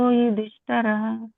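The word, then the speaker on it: ಯುಧಿಷ್ಠಿರಃ: ಹೇಳಿ ಮಾತಾಜಿ ರಾಜ ಅನಂತ ವಿಜಯಂ ರಾಜ ಕುಂತಿ ಪುತ್ರೋ ಯುಧಿಷ್ಠರಹ ನಕುಲಸ್ಯ ದೇವಚ್ಚ ಸುಘೋಶೋ ಮಣಿ ಪುಷ್ಪಕಹ ಪುಷ್ಪಕ ಸುಘೋಶ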